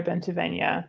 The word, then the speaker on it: Bentavenya: do is i say it rhymes with pennsylvania which is ironic because